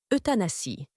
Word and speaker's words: euthanasie: de leur handicap est appelé euthanasie cela se prononce euthanasie c'est un mot grec qui signifie belle mort